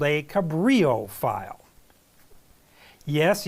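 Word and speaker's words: Cabrillo: generate something called a Cabrio file yes years ago I pronounced it as cabillo file and I got corrected that's not it's Cabrio file you can find more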